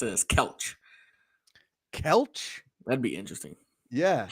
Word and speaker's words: Kelce: an interview said that their last name is actually Kels, but they stopped correcting people apparently. So they just let it happen. Yeah, I thought you were gonna say they pronounce it as Kelch.